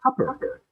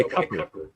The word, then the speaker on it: Cooper: to it so so Roy Cooper pronounces his name coer okay so yeah he prefers to go by CER but now it doesn't